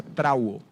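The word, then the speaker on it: θραύω: La palabra oprimido viene de una palabra en griego que se pronuncia trauo y significa magullado.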